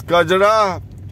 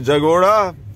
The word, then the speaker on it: Kajara: ah behind us is kajara which the tibetans have mispronounced as jagora then narottimpur and vikram